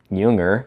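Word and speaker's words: Jünger: Ernst Junger, pronounced like Carl Jung, except Junger, was a German soldier in World War I, but not like you might expect him to be.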